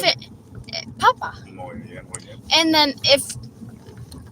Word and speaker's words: papa: Papa, with no accent anywhere in any of the A's, it means potato. Mm-hmm. And how do you pronounce it? Papa.